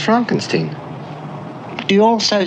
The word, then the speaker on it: Frankenstein: Frankenstein. You're putting me on. No, it's pronounced Frankenstein.